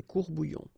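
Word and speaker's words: courts-bouillons: S, S. You don't pronounce it, des courbouillons.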